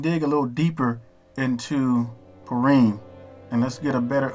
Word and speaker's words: Purim: So Purim, and then it has the pronunciation of it, how you would really pronounce it. So it would be Purim, which is pretty cool